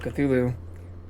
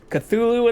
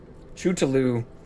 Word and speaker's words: Cthulhu: Cthulhu and the Frog. Chootaloo is how we originally pronounced it.